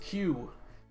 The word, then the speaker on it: Qi: They're pronounced Q.